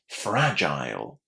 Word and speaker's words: fragile: Fragile. Fragile. Was this a surprise for you? It would be for a lot of learners of English. So fragile is stressed on the first syllable.